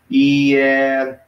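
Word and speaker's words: ἱερόν: So it's 3 syllables. Hieron. right? Very low. So if those were reversed, that'd be a diphthong. It'd be pronounced together as one sound, but it's not. It's reversed, so they're independent.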